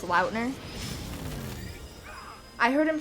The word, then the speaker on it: Lautner: lautner is very cool did you know his last name's actually pronounced loudner i heard him say